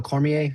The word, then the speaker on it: Cormier: these guys and I actually, you know, Daniel Cormier, is that how you say his name? Yeah, Daniel Cormier.